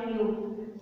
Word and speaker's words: knew: Knew या फिर न्यू, KNEW, pronunciation में हम न्यू ही बोलते हैं बिकॉज के साइलेंट होता है.